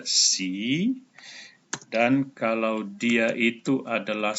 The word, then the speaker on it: sie: Ini dibaca sie.